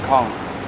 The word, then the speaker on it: Cong: It's Kong. How do you spell that?